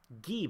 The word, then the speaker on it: Guy: going to Guy Bonnet, as I've now learned I'm supposed to pronounce it. But you can't like write the name Guy and just assume people understand you should pronounce it Guy. That makes no sense in my head, because I'm stupid.